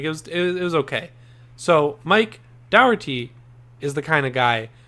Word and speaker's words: Dougherty: I don't know if we ever talked about this, but Mike Dougherty is how you say it.